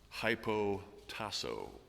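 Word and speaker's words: ὑποτάσσω: negative connotations it's a compound word which is pronounced hypo taso you recognize the first part I'm sure hypo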